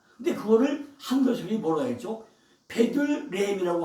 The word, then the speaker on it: 베들레헴: 베들레헴이라고 하다 보니까 베들레헴을 다시 원어는 베이트레헴이다.